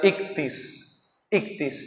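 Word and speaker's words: ἰχθύς: Y aún más ahí, en griego, el nombre pez, la palabra pez, se pronuncia ictis, y estas iniciales es como un anagrama de la palabra Jesucristo, Hijo de Dios, el Salvador.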